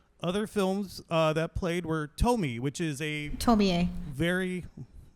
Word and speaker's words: Tomie: That's the first time I've ever heard anyone pronounce that E. I had no idea, girl. I have never heard anyone say that. It's supposed to be pronounced Tomie.